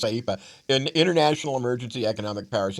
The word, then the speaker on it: IEEPA: that's that's if you pronounce the acronym, that's what it is, IEEPA, an International Emergency Economic Powers Act, to impose broad tariffs on imports.